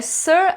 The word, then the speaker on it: Ser: No original em inglês, eles costumam usar Sir com E, fica parecendo o verbo ser em português, né? Mas eles pronunciam como Sir.